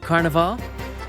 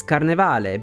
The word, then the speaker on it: Carnevale: the city of Runa I can kind of accept how they say Carnival the stress is on the right syllable but in Italian we read every letter so when a word ends in e it's never silent the correct pronunciation is carnal but making that final e silent isn't really such a big deal it didn't bother me